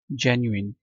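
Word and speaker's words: genuine: factual true इसको आपने पता है कैसे पढ़ना है जेनुइन जय न्यू जय न्यू इन जेन्युइन ठीक है और इसको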